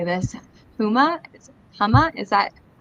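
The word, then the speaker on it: Houma: Huma, is that correct? Homa.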